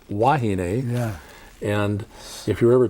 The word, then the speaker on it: wahine: that that's right certainly w's can actually be v's so most of us locals say vahine instead of wahine yeah and if you're